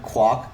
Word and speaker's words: Kwok: Yeah, or they would use, and then Kwok, Kwok, rhymed with cock.